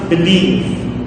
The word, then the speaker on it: believe: That means our stress falls on the second syllable. So it becomes believe, believe, Now, stress and